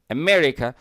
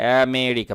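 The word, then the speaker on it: America: যেমন আমরা বলি আমেরিকা, আমেরিকা, নট আমেরিকা।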